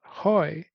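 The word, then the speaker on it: Huy: writing okay now another name is hard to pronounce Hoy hu y yeah ho who is the kind of close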